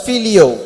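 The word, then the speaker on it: φιλέω: He is using another word in English, it's pronounced as filio.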